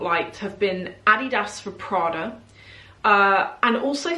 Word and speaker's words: Adidas: that I promote pronounce Adidas incorrectly I pronounce it the British way just to let